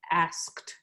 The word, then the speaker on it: asked: is pronounced d however with ask the ed is pronounced like a t yeah asked um but you just